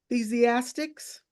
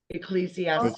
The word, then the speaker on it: Ecclesiastes: Ecclesiastics? Ecclesiastes.